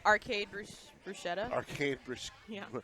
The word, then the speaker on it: bruschetta: It's like arcade bruschetta. Arcade Yeah. bruschetta.